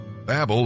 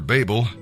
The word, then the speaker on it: Babel: person's name truly great Babel or Babel people do pronounce of different ways means confusion and God